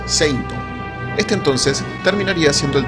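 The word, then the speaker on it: セイント: Finalmente se le ocurrió Seitoshi, que significaba combatiente sagrado, y cuya primera parte sonaba casi igual a la pronunciación en japonés de la palabra Saint, o sea, Seinto.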